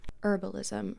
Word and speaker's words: herbalism: step in within witchcraft herbalism or herbalism. I love when people pronounce the H.